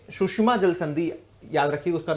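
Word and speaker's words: Tsushima: है ठीक है ना यह है सुशिमा टी से स्पेलिंग शुरू है जापान में अधिकांश शब्द में टी साइलेंट होता है स्पेलिंग टी से जरूर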